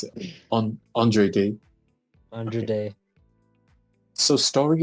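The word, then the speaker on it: Andra Day: Is that how you pronounce it? Andre Day.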